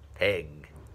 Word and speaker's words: pig: Pig, pig, pig. Dig, pig. À, chữ này không phải đọc là piết, không phải đọc là piết giống như một số bạn hay đọc, mà nó đọc là e, e.